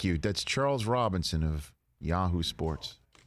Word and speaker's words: Yahoo!: That's Charles Robinson of Yahoo Sports. Exclamation point is silent, by the way.